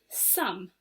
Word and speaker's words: some: we're going to learn today is the word sum s-o-m-e sum can you say it for me let's spell it together s o m e sum so